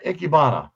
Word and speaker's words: Ikebana: and then I'm gonna mispronounce this name. Learn Ikebana, the Japanese art of flower arrangement. Yeah, Ikebana.